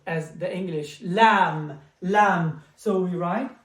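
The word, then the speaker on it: لام: And then we have the letter L as the English, lam, lam. So we write L. It's exactly like this one, very simple. We go up, we go down. Lam, like the letter L.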